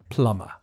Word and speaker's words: plumber: the answer is plumber the pronunciation is a little bit difficult because there's a silent b in the written form you just say plumber number five is a